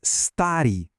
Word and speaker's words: старый: E velho é старый, старый. Percebeu uma coisa? Nesses dois, a sílaba tônica está no começo, não no final. Por isso a gente volta para a terminação padrão, a ri.